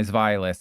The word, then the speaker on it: Zweilous: to knock out my Zweilous? And yes, that's how you pronounce it, because it's German.